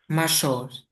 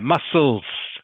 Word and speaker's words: muscles: The C that you see in that word is silent.